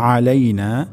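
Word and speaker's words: عَلَيْنَا: আসসালামু আলাইনা। প্রথম শব্দটি হবে আসসালামু আলাইনা। এখানে সিন আমাদেরকে সুস্পষ্ট করে বলতে হবে। আসসালামু আলাইনা আলাইনা এখানে আইন উচ্চারণ হবে আমাদের অনেকের ক্ষেত্রে আলাইনা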